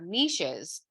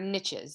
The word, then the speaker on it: niche: about how microbiomes have niches or niches depending on how you say it um and these